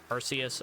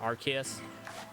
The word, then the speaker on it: Arceus: Um, this is this is my first play through playthrough of Arus or Archus. Um, whichever way you would like would like to pronounce that, they are technically both correct since the um, yeah, roly coy.